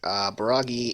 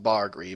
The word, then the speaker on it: Bargri: Baragi is... Sorry, it's pronounced Bargri, but they call it Baragi because locals.